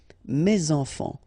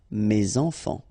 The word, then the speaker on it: mes enfants: Enfant, children is starting with a vowel, so you should make the liaison mes enfants, mes enfants.